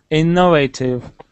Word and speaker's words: innovative: we say this word innovative yeah but the stress is where Innovative yeah it's more like that innovate Innovative so it's a bit